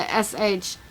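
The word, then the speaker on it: шабаш: Anyway, sabash in English would not be a palindrome, because we would have the SHABASH is how it's pronounced. But in Russian, that little W looking thing is pronounced sh.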